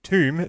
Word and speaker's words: Thumb: Oh, pronounced tomb, this flower is sometimes associated with death.